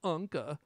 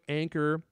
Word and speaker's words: Anker: a german company but they are pronounced anchor but in my mind i always call them anka because i like to